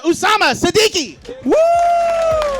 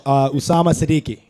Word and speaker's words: Osama Siddiqui: up for sama Siddiqui sorry if I said that name wrong buddy how bad did I up your last name terribly it's all good how do you say it for real Osama Siddiqui is that what you said Greg I